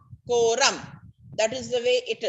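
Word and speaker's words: quorum: confusion for you people ko ko so q-u-o ram from spelling cannot forget no ram koram that is the way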